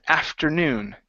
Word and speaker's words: afternoon: you go okay uh afternoon the stress is in the very end instead of afternoon afternoon